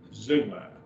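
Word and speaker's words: ζεῦγμα: Zeugma, zeugma. Epsilon, epsilon is a diphthong. Zeugma, 2 syllables. Zeugma. And that's a yoke. And it's pronounced zeugma.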